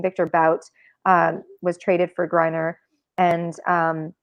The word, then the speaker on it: Bout: So the bigger picture there was obviously, Victor, and it's Bout, that's how you pronounce his last name, Victor Bout, was traded for Griner, and it was the only deal on the table.